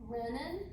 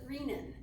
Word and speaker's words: renin: the adrenal glands and so this hormone it's pronounced random renin there are so many people that pronounce it readin I've heard reven more than I've ever heard